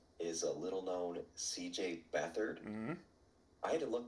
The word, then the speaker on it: Beathard: you look at it, I pronounced his name wrong. I thought his name was CJ Beathard. And actually, a buddy of mine who's in another league, I said, "Who's CJ Beathard?" And he was like, "It's Beathard."